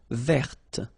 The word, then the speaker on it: verte: Feminine form, verte. So listen carefully. I don't say te, but it's t. Verte. Verte. Okay, so as usual, this final E only gives you the possibility to pronounce this t.